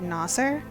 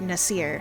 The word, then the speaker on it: Nasir: they were pakistani because they said nasser but everywhere else it's nasir so everyone else thinks says nasir and i say nasser i need to fix that before i play it